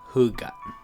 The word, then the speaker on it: Hygge: It's spelled Hygge, but it's pronounced Hygge.